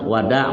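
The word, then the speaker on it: وداع: waqala Wat tawaful Wada Wada bukan Wida bacanya tawaful wadairi Wam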